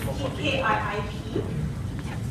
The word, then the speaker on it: Kiip: is the co-founder and ceo of keat it's pronounced kkip it's a category creating mobile rewards network that